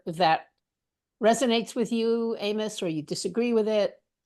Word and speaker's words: Amos: Well, just as a side note, my name is Amos, not Amos, Amos. sorry, you're Oh, right. sorry. Yes. Okay. And It's like Ivan and Ivan, or yeah, yeah, I mean, yeah, it's Amos. It's just the Hebrew pronunciation.